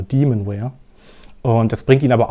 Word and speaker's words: Demonware: Nee, Demonware spricht man es ja aus, genau, Demonware.